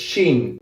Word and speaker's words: jeans: Okay, you have to say the Spanish way, the Argentine Spanish way, which is sh as well. So this is shin, or you can say shins in plural, right?